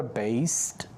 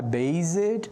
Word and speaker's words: based: e de novo, ó, vou falar da pronúncia dessa palavra based, é com S, não é com Z, então não é based, é based, ok?